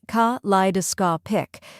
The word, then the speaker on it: kaleidoscopic: Let's break it down. First we have ka, which sounds like say in cat. Next is li, which rhymes with fly and is the stressed syllable. Then comes duh, which sounds like duh in dumb. After that is ska, which rhymes with saw. Finally, pick sounds like pick.